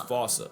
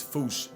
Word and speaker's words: fossa: while England pronounces it as fossa.